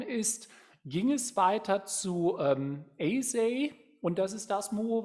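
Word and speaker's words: Eisai: Also der Eisei spricht man ihn in der Regel aus.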